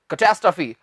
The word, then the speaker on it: catastrophe: ये तो मैंने तोड़कर बोल दिया, एक साथ बोलना है आपने, कैटास्ट्रफी, कैटास्ट्रफी, कैटास्ट्रफी।